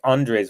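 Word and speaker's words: Andrzej: garage yeah very interesting I like I like Andres when it's spelled a-n-d-r-z-e-j Andre all right love 15 first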